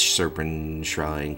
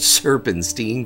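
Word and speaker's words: Serpentshrine: the soul strider boots serpent shrine caverns used to call it serpents teen caverns I just loved mispronouncing things moving along the hands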